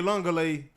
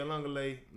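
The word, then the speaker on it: Uiagalelei: DJ Elungale, I believe that's how you say his name, is now the quarterback over at Florida State as well.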